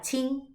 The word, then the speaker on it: Qin: prosperidad y la dinastía chin que es la última la curiosidad de la historia china es que la primera es se escribe en el álbum se pronuncia como ch es decir chin chin a algunos dicen